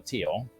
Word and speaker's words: Teotl: One is for the Aztec gods, the Teotl, or Teal, because the TL is actually a stop instead of actually a pronounced a thing.